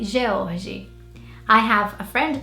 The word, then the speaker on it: George: Baby boy name number 3 is this one, and in British English you say George, and in Portuguese you would say George.